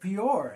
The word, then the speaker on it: Peor: the Lord in the matter of Peor. And there was a plague among the children of Israel. Among the congregation of the Lord. That's how it's said.